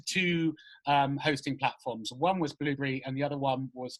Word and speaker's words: Blubrry: I use a platform called Blueberry, but it's spelled Blubrry.